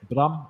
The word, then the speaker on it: Bram: So how you pronounce it? Bram in Dutch. Bram.